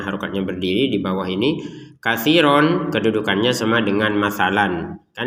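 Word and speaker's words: كَثِيرًا: Katsiron kedudukannya sama dengan masalan. Kan ini masalan, masalah. Katsiron, katsiro. Jadi dibacanya ro. Kenapa? Karena kita berhenti.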